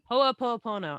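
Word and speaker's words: Hoʻoponopono: Ho'oponopono.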